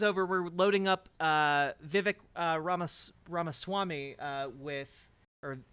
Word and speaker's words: Vivek: Vivek it rhymes with cake having a good time